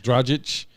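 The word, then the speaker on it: Dragić: Dragic.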